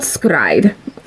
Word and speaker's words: s-CRY-ed: it on youtube it's called skride it's it's spelled s-cry-ed it's a stupid stupid name i